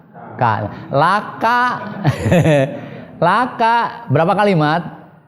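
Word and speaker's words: لك: Jangan dibaca Robbana walika, bukan begitu. Walaupun asalnya kan li ya teh. Asalnya li, tapi li ketika nyambung kepada domir mutasil seperti itu, maka menjadi la dibacanya. Laka, lakuma, itu kan lakum.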